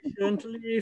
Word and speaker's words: patient: him it's silly wait patiently for him yeah and patience uh patient the second syllable should be a schwa and not an ear oh after a